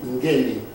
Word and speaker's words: Ngemi: How do you pronounce your name? Ngemi.